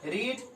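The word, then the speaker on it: read: Verb 1 में रीड, verb 2 में रीड, verb 3 में रेड। देखिए ये भी रीड है, ये भी रीड है, लेकिन वर्ब 3 में इसको हम रेड पढ़ते हैं।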